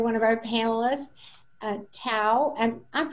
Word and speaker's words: Tao: thanks to another one of our panelists uh tau and i'm pronouncing that correctly is that you are thank